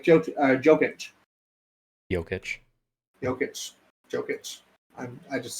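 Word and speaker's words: Jokić: just suck at names i think you pronounce it yogic nikola yoketch yeah i think it's yokish but i think a lot of people call him jokic too yeah i also took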